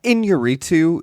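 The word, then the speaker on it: Iñárritu: Yeah, Inarritu. That in with the thing over it is Inye. Yeah, Nye.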